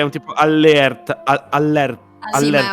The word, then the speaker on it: allerta: parentesi di dizione non richiesta, la pronuncia effettiva sarebbe allerta, che è orrifilante. Orrendo, mi rifiuto. No, ma... io dico sempre allerta, raga.